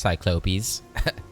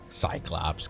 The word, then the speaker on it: Cyclopes: Although, sir, it's pronounced Cyclopes. Cyclops, come on.